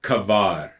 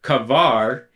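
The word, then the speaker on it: קבר: means to bury but it sounds like and is spelled like an english word if i transliterate the letters it to be the equivalent of c v r or cover and i picture in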